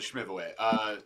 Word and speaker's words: schmiv away: We were schmivel. like, oh, we Schmivel. got to hit 100, 120. Yeah, you're saying it wrong, Paul. It's a schmiv away.